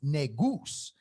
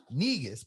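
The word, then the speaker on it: Negus: he spelled it right n-e-g-u-s which is actually pronounced negoose not negas but we say that here in america which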